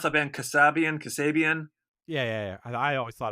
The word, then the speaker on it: Kasabian: got on three dates because how do you pronounce that band Kasabian Kasabian yeah yeah I always thought it was Kasabian but they dropped off they had something happen